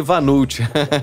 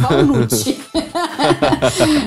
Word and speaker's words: walnut: Eu falei Vanult. Que gafe, né? A gente fala assim, o vulgo walnut. É o walnut, né? Mas é uma pronúncia da língua inglesa e isso é apenas uma curiosidade, né?